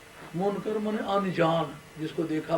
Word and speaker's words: منکر: اس کا تلفظ یاد رکھیں, اس فرشتے کو منکر نہیں کہنا, منکر. عام واعظین اور اردو کے ذریعے سے دین سمجھنے والے منکر نکیر کہتے ہیں. منکر فرشتہ کوئی منکر نہیں ہے.